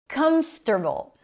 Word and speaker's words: comfortable: Comfortable. Comfortable. Primary stress is on the first syllable.